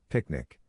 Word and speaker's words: PQNK: Picnic. PQNK natural ecosystem science for production agriculture to be pronounced as picnic which stands for Peter